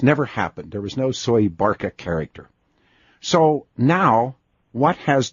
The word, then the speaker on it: Soebarkah: yes when you first said that and it's pronounced soy Barca as I that's pronounced Barca yes survived that's how they say Indonesian say soy Barca and I've gotten some email this when I